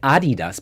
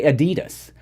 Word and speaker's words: adidas: you can hear it that you said adidas because that's the proper way of saying it sorry i don't want to blame anyone you can do whatever but a lot of americans say adidas but it's actually adidas but you know it's